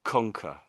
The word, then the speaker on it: conquer: You're you um you're a bit too loud on the the second C sound. So it's I think the emphasis on the front maybe conquer. Yeah, you it's loud at the front of the word then it gets quieter.